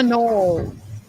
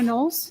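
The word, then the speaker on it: Knowles: We're doing Hannah Nolles.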